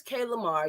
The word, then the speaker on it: Kaylamar: lamar come up and if i'm saying it wrong please correct me because you know i'm a new yorker you know i'll be saying everything wrong no you're saying it right so my name